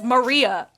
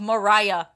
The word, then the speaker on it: Maria: not being insensitive okay people don't know how to pronounce my name and it's Maria I've told this story and I'll tell it again on graduation day I was the graduation speaker and then when people were congratulating me on my good speech or whatever they said good job Mariah so nobody even come